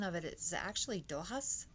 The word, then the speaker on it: Dochas: of it is actually Doha's which is Irish pronunciation of it but for my people